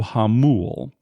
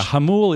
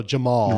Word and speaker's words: Jamul: so this new casino it's called Hollywood Casino hamu you should spell hamu for those people around the country who aren't familiar with spish yeah hamul is spelled j a m u l so around the country we're going to say Hollywood Casino Jamal right it was kind of